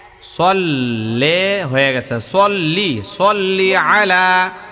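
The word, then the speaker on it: صَلِّ: আল্লাহুম্মা সাল্লি আলা মুহাম্মদ সাল্লে হয়ে গেছে। সাল্লি সাল্লি আলা মোহাম্মদ মাশাল্লাহ। ফাতেমার আইনের উচ্চারণটা ভালোই হয়।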